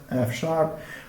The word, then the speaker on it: F#: This is pronounced F#.